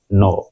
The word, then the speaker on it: gnaw: देखने से बोलते हैं नो, NAW, GNAW। ठीक है, इसमें जी साइलेंट है तो इसे बोलेंगे नो, NAW।